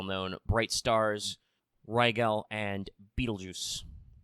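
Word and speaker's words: Betelgeuse: bright stars rygel and beetlejuice yes that is actually how you pronounce that star name now the constellation orion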